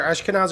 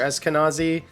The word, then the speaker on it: Eskenazi: Anyway, move on to a place called is it Ashkenazi? I've heard it pronounced both ways. It's either Ashkenazi or Eskenazi.